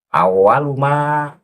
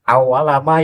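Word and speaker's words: أوّلُ ما: Awaluma yas'alani fil qabri ani, karena itu kan menjadi mubtada, itu mubtada harus dibaca rofa, lafat awalu. Atau boleh dibaca awala, tetapi harus ada pendahuluan huruf ina. Itu inna awalama yas'alani fil qabri ani, itu baru benar.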